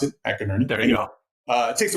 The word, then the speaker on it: McInerney: So that's the way you pronounce it, McInerney.